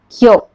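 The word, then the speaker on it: きょ: Kyo. Shiyo. Sho. Chiyo. Cho. Nyo. Nyo. This is how you have to pronounce with a small yo.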